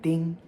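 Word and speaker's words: 訂: With the yen spoken radical to the left, it's fourth tone. Ding.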